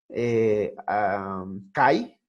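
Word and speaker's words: καί: había una palabrita quiera cai te acuerdas se escribe así pero se pronuncia como qué se debe pronunciar como que por el diptongo la aquí es un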